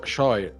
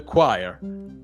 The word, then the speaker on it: choir: choer chir what the it's totally different from how how it's written to the choir is completely different this